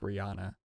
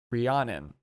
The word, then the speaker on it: Rhiannon: It always looks like Rihanna, but it's Rhiannon. The song, okay. Rhiannon with her childhood hero, Stevie Nicks.